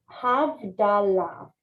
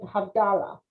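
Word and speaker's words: Havdalah: name that's Hamman okay havala and some of us call it havdala I mean that's how it's said but it's havala havala abdalah is a service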